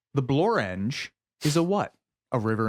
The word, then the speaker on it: Blorenge: billion that is correct a rare example of a word that does indeed rhyme with orange the Blorenge is a what a